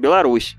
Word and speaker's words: Беларусь: Меня научили белорусы, что правильно говорить Беларусь.